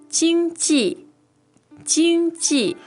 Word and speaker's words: 经济: It doesn't for some reason, but so it's first tone and it's fourth tone, right?